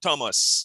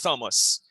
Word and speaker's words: Thomas: Thomas. You don't say St. Thomas. You say St. Thomas because the H is silent.